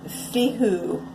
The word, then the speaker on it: Fehu: It is the Fehu. It is it's spelled F-E-H-U.